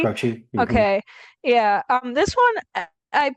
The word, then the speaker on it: Croce: I don't know how to pronounce his name, last name. Like, I think it's Cro Croce, Croce? Croce.